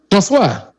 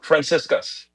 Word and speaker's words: Franciscus: Franciscus. François. No, Franciscus.